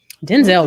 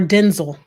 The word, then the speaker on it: Denzel: the promotion but then it halted yeah yeah denzel washington doubt or denzel since we're all his name is denzel since